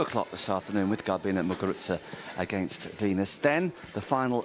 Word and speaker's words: Muguruza: You pronounce the Z.